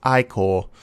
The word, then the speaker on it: Ichor: It's pronounced Ichor, even if its remains are powerful and dangerous opponent.